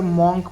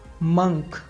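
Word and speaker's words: monk: Next word है साधु, जिसको हम अक्सर मॉन्क बोलते हैं, पर ये मॉन्क नहीं होता है। इसका सही प्रोनाउंसिएशन होगा मंक। मंक।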